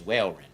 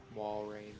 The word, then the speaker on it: Walrein: shouldn't be that good, was Whaleren, right? Mm-hmm. Am I pronouncing that right? It seems weird. Walrein. Walrein, then, yeah.